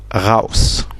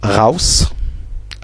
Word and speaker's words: raus: Le A à côté du U se prononce au, comme dans le mot raus. Le téléphone qui sonne. Pardon. Donc, il se prononce au comme dans le mot raus.